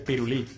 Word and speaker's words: pirulí: Dice que piruli con acento en la I. ¿En la primera o en la segunda, Fanny? ¿Piruli o piruli? No, hombre, creo que es pirulí.